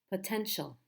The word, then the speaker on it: potential: say that to yourself how many syllables in this word potential potential the tential three syllables which one is the stress the first syllable the second or the third potential it's the middle syllable potential potential how about